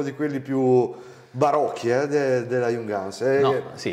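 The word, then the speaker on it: Junghans: siccome abbiamo parlato del minimalismo di Jungans, tiriamo fuori anche gli Jungans, con l'accento sulla Hans, come piace tanto a me, l'accento sulla Hans.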